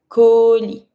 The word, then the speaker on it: colis: Don't pronounce the S. Colis.